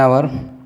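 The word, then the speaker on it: hour: जैसे एन आवर। अब एन आवर हमने इसलिए लगा दिया कि एच जो है कॉन्सोनेंट है, लेकिन यहाँ एन यूज हुआ है क्योंकि इसका प्रोनाउंसिएशन जो है आ का दे रहा है।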